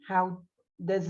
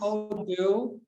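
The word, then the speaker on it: הודו: How does it say pronounced? Hodu. Hodu. How do, yeah.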